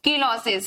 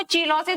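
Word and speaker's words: cheilosis: कौन सी डिसीज होती है, कीलोसिस, या कहीं कहीं आपको चीलोसिस भी लिखा मिलता है, ठीक है, हिंदी में आपको कहीं कहीं चीलोसिस भी लिखा मिलता है, याद रखना। CS से स्पेलिंग होती है, उसको चीलोसिस भी हिंदी में पढ़ लेते हैं कभी कभी।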